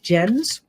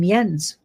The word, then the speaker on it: Jensen: Astral healing healing meditation with Jensen's 10% with code healing 10. And I think I said Jensen's but uh you pronounce his name Yens.